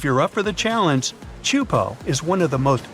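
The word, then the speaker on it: Teahupoʻo: all the name itself is a mouthful is pronounced chupo and it means broken skulls in tahan yeah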